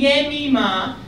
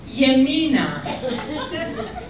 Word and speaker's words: Yemima: all of you, you don't know how to pronounce my name, and instead of calling me Yemima, you all call me Yemina, which unfortunately means in Hebrew, taking a right-hand turn.